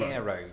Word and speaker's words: Cairo: As I've just discovered, Cairo, Illinois is pronounced cool, Cairo.